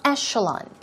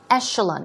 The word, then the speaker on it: echelon: as I told you it's e but it's pronounced with an eh here we go it's Echelon Echelon we're talking about a